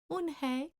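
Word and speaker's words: Unhei: "Yes, it's pronounced Unhai, and it means grace," Mr. Kim added. "Unhai," Joey said slowly and this time perfectly.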